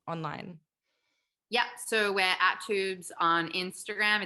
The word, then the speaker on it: Twoobs: yep so we're at tubes on instagram it's t-w-o-o-b-s there's a silent w in there and obviously go